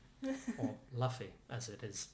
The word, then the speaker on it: Luffy: But well done, uh, Luffy or Luffy as it is spelled. Don't know why we're saying Luffy. Because that's how they say it in the manga. In the manga, in the anime.